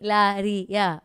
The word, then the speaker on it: Hilaria: Hilaria. Okay, Yes. that's how it's pronounced.